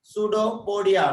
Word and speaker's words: pseudopodia: PS is a pseudo. Understand? P is silent. Pseudopodia.